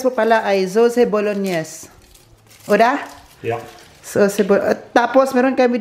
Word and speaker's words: bolognese: Guys, ang tamang pagbigkas po pala ay sauce bolognese.